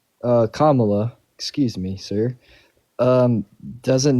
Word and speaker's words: Kamala: wants to do so much for this country Camala doesn't even know like Whata that's how you pronounce her name uh Kamala excuse me sir um doesn't know like her